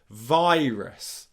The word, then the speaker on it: virus: So I often hear it being pronounced virus or virus or something like that. Various different pronunciations of the vowel sounds, but the main mistake is the R sound.